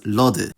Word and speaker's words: lody: in those places, because the sound shift didn’t apply to inflected forms of those words with suffixes, and those are still pronounced [ɔ].